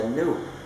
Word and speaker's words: GNU: Porque se usa en muchos juegos de palabras, porque según el diccionario la G es muda y la palabra se pronuncia new, como si fuera nuevo.